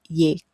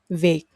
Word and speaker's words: Việt: tieng viet viet viet But the standard way is to say when is like when you say very in English, v. So viet viet viet tieng viet And even though you see the T ending, it doesn't have the T ending at all.